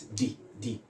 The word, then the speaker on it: the: And may I sharply also point out that the definite article THE has two forms of pronunciation. Yes, so it is not always D. At times it can be the.